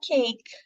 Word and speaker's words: cake: O E só está sinalizando que a primeira vogal é uma vogal longa, é o silent E. Então, você vai falar cake, e o último som